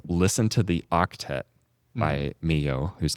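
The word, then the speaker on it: Milhaud: So Claude Debutcy, Maurice Rell, Far Darius Mio.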